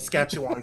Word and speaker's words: Saskatchewan: Saskatchewan correctly.